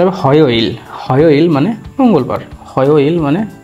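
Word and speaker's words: 화요일: তো এখানে ও উচ্চারণ হবে অ, এরপর আছে ইয়োইল, হয়োইল, তাহলে উচ্চারণটা হচ্ছে এরকম হয়োইল।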